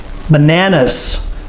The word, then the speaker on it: banana: banana it's not banana it's not banana it's banana the stress is on the second syllable bananas so say it after